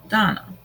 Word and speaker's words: Dana: About Dana, pronounced Donna.